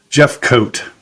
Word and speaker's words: Jefcoat: and I didn't ask you before is it Jeff cot or Jeff coat Jeff coat awesome I did get it right let's see the englishon pronunciation nailed it yeah cool awesome so I